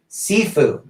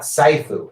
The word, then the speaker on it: Sifu: house that other commoner's name is pronounced scythe sifu not saifu okay sifu thank you